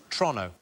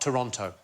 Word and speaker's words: Toronto: My other half is is Canadian and everything seems to be pronounced a little bit faster than it should be. So it's Toronto, not Toronto.